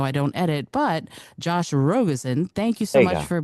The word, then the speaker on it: Rogosin: I have my last name is pronounced Rogusen, not Rogoen.